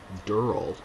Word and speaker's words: Durrell: friends family members and every single one of them said Dural so that's how I'll be pronouncing it from now on um if anyone has